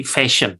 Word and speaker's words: fashion: Nah, jadi fashion ya, S-nya harus tebal.